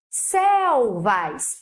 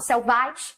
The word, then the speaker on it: selvas: Selvas, aí, ó, qual é a última palavra do meu verso? Selvas. Qual é a sílaba mais forte? Céu. Eu não falo selvais, eu falo selvas.